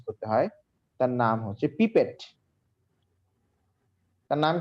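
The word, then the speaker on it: pipette: পিপেট দিয়ে নিব। পিপেট দিয়ে নিব, হ্যাঁ পিপেট। এটা উচ্চারণটা সুন্দর মতো করবে। আবার অনেকে বলে যে পিপিটি, ঠিক আছে, এই পিপিটি না, কিন্তু এটা পিপেট। কি মন থাকবে তো?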